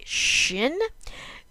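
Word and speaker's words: שין: not take a dickish okay shin this is the SH sound and sometimes and this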